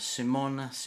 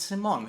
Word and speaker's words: Simone: No, it's Simone. Is it Simone? The Dutch people pronounce it as Simone, but I'm used Simone. to all different variations of my name.